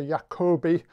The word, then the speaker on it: Jacobi: who speaks german because i'm mispronouncing jacobi how the proper german pronunciation is something closer to jacobi but if i call it that then nobody in england or america will understand me so i will use the english pronunciation so the jacobi symbol